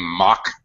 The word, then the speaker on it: Mach: going he was going Mach 7 mock sounds just like a que yo mutt yeah so